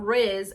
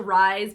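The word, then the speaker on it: RIIZE: this isn't going to make any sense but Riz actually it's pronounced rise but I just like saying Riz cuz like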